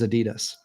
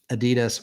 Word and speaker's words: Adidas: about what made um Adidas or Adidas, however you want to pronounce it. Adidas. That's why listen, I realized we were pronouncing it wrong as Americans.